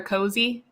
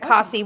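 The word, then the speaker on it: Cosi: c-o-s-i u-s-i yeah and i'd always pronounced it cassie when i read it the first time but then she did pronounce it cozy and i was like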